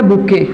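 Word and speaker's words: bouquet: आप देखो एक वर्ड है बुके, देख रहे हो? स्पेलिंग में देखोगे ध्यान से, आप लोग बोलते हो बुके, लेकिन देखो लिखा क्या गया है? बुकेट, बट प्रोनाउंस क्या करते हैं इसको? बुके।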